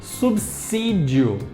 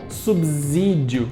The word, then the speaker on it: subsídio: desses em terceiro lugar tem subsídio sim com som de s e não subsídio com som de z por quê que isso